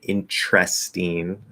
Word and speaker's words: interesting: so if we say we can say interesting with a t if the speaker speaks that way or the way i speak i'd probably say intrestine be a ch interesting or instead of s you can reduce the s to is interes interesting um so that gives us